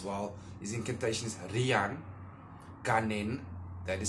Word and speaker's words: Ganen: His incantation is Rian Ganen, that is spelled G-A-N-E-N, Ganen, Aya de Agares.